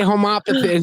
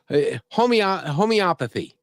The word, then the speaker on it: homeopathy: But Abby, why can't I say homopathy? It's not homo. It's homeopathy.